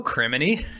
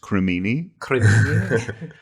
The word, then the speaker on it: Crimini: And he's just always in these situations like, I don't know, Criminy.